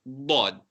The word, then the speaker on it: ض: So that again you pronounce with a round mouth, but this time our tongue is behind our top teeth and on the side. It could either be on your left side or your right side.